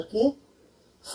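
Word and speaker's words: cough: जी अक्षर एच के साथ होता है, कई जगह उसका प्रोनाउंसिएशन जी ना होकर के फ का, एफ का प्रोनाउंसिएशन बन जाता है। जैसे कफ, रफ, इनफ, लाफ, तो इन सब में जी एच का प्रोनाउंसिएशन एफ बन जाता है, यानी कि फ बन जाता है। इसका जी साइलेंट हो जाता है।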